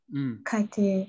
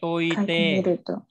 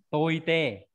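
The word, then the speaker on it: 解いて: Kaite. Toite. Không phải kaite. Toite. Đứng một mình đọc là tô cự, không phải là kai đâu.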